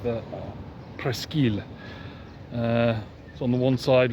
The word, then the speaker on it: Presqu'île: This is the main square in Lyon on the peninsula, or that has it pronounced the Presqu'île.